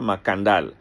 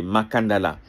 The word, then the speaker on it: Makandal: locuteurs du français qui ont francisé le cas en C et euh ils ont avec la prononciation des des locuteurs du français, ils ont perdu le segment final A pour donner makandal. Mais sinon c'est makandala.